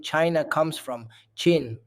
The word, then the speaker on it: Qin: Chin, pronounced Chin.